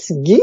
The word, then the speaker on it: Ghis: Mais ça se prononce, souvent, on le prononce Guy, ça fait pas. Et c'est pour ça que je dis aux gens, ben, pour le prononcer, comme le beurre clarifié.